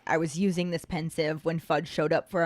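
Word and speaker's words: Pensieve: a pensive I say pensive because it's the combination of the word pensive spelled p-e-n-s-i-v-e and a sieve which is spelled s-i-e-v-e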